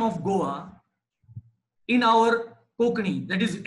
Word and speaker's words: Goa: she came to be known as goa g o a to rhyme with lish boa lisboa is lisbon that is the portuguese capital and since they were